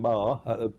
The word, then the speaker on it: Maher: name all the time, because a lot of people say it's Mayer. So I must admit, I'm very impressed that you said Maher, because that's how it is pronounced.